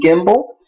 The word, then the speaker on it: gimble: You knew that this was gyre, but this was gimble, because GY makes the J sound, GI makes the G sound.